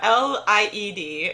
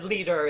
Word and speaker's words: Lied: but sorry just to explain so lol so L ie D in German is elite which is German for song or leader is the German for song but in English